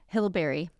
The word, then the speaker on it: Hillberry: Hillberry. Hillberry. Yeah, like hill like you climb, berry like you eat.